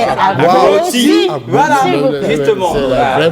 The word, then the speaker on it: Agboti: Alors, mais ce n'est pas Agoti, je vais vous donner la vraie prononciation. Agoti. Agoti. Voilà, les piliers du portail. Tu ne peux pas accrocher la porte ni le portail. Agboti. C'est parce qu'on m'appelle Agboti que j'ai accepté. J'ai dit bon. Maintenant vous savez que c'est plus Agouti, c'est Agboti.